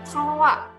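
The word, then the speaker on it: trois: kita ada angka 3 angka 3 ini kita lafalkan dengan roa-roa Hai dari mana bunyi aanya gitu ya padahal disitu jelas gua cuma ada Osama I tapi ketika ada Oh dengan i di a akan melahirkan bunyi a-dha croa ya troia ada es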